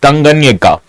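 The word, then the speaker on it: Tanganyika: Lake tangan uh tanganika I've actually practiced its pronunciation but I still fumbled tanganika now this tanganika lake is actually located in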